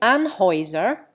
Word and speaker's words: Anheuser: In Anheuser, the EU changes to a long I.